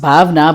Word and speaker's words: Bhavana: It's supposed to be pronounced Bhavna, but if a local person looks at it, they will definitely pronounce you it as Bhavana.